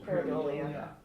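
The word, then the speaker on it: pareidolia: It is pronounced Paradola. Paradolia.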